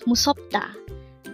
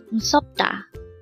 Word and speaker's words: 무섭다: Again, it's MUSEOPDA. This pronounced as a three-syllable word. The first syllable is mu, second syllable is sop, and third syllable is da. Pronounce it with me. MUSEOPDA.